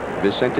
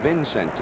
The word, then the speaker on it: Vicente: He was calling Vicente Romo Vincente. And Bill Crowley told us, says, hey, Sherm, that's the wrong pronunciation.